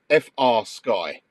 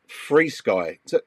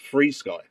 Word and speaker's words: FrSky: to know now I've already read it as F sky so capital F and the little r f r sky but you're saying it's free Sky why is why is it pronounced free Sky okay that was actually one of the first